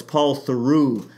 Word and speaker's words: Paul Theroux: I keep mispronouncing his name, Paul Theroux. It's Paul Theroux.